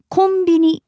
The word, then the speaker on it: コンビニ: Yeah, it sounds kind of similar, doesn't it? Convenience store in Japanese would be pronounced convenience store. But since that's so long to remember, we just shorten it to konbini.